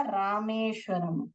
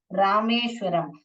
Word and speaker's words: रामेश्वरम: नहीं पढ़ने का रामेश्वरम नहीं प्रोनाउंस करते हैं इसको कैसे प्रोनाउंस करते हैं रामेश्वरम आर ए एम ई एस H Ramesh Varam R ए एम रम रामेश्वरम okay you should not read रामेश्वराम Rameshwar Ram ऐसे नहीं पढ़ने का रामेश्वरम करके पढ़ने का यह